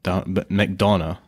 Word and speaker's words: McDonagh: That was How do you say his name? I say Martin McDonough. McDonough. But I could be wrong.